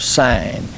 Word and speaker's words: Sin: the Wilderness of s it's spelled SI i n as if it were sin but it's literally the Wilderness of sin and there it is